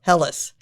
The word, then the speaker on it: Helleis: Today we're talking with Phillip Helleis. Close enough. You pronounce it for me. Helleis of Covington, right?